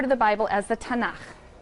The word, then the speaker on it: Tanakh: also on that sheet tanak which is really the letters t n and um and they put little A's in there to make it easy to pronounce cuz is hard to